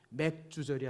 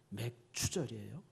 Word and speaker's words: 맥추절: 그 다음에 이제 맥추절, 이게 발음 잘해야 돼요. 맥주절이 아니라 뭐라고요? 맥추절이에요.